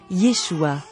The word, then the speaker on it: Yeshua: des traces de Jésus s'entendra rapidement prononcer son nom en hébreu Yeshua prénom choisi par ses